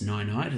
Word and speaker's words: Ninite: Now, it does sound like a silly name, of course, Ninite. It's like saying goodnight to someone, but I could be mispronouncing it, but that's how I'm reading it anyway.